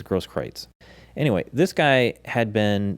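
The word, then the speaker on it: Grosskreutz: is gross kreutz and i've heard different pronoun pronunciations it's uh g-r-o-s-s-k-r-e-u-t-z all right and i think they go with your version and i think they call they pronounce it as gross kreitz anyway this guy had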